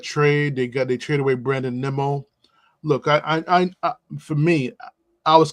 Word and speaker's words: Nimmo: I call him Nemo, but his actual pronunciation is Nimmo.